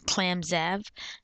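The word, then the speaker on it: ClamXav: Um, and for the Mac, if you use Mac OS 10, there's an alternative called ClamZav, and that's spelled uh like so.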